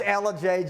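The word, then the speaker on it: Ellijay: It's Elijah, Georgia. My mistake, ladies. I'm sorry. And they even spelled it phonetically out, and I still spelled it wrong.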